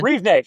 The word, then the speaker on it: Rivne: So, once you got to Ukraine, you said, you were in, how'd you pronounce it? Rivne? Rivne, yeah, it's a city of Rivne.